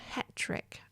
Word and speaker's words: Hetrick: Ethel Hetrick. I hope I pronounced that right.